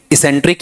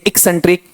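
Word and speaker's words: eccentric: इसका उच्चारण सिखा रखा है। इसेंट्रिक या एक्सेंट्रिक एक्सेंट्रिक। ठीक है?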